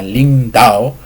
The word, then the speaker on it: 靈道: a definir bien que la palabra Ling Dao se debe de pronunciar con los tonos respectivos, el tono interrogativo en el segundo tono del chino y el tono imperativo del cuarto tono del chino.